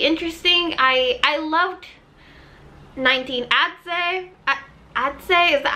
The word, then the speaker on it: Adze: Adze, is that how you say it?